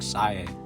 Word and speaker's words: Sae: Why are they calling her Sai? It should be pronounced like Sae or something like that.